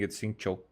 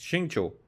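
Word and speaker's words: Xingqiu: And stop pronouncing itcho. It's Shingcho.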